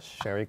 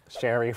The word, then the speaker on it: Sherry: And I added cherry syrup because Shery rhymes with cherry.